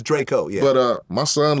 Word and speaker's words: Drakeo: son love dra Yo's music I think it's pronounced Draco Draco yeah I remember I call him drao once and he was like Draco dra it is Draco let me it's spelled kind of drao but it's Draco yeah but uh my son loved him U